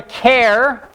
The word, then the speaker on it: char: it a Char we call it either a care like the first syllable in character or some people call it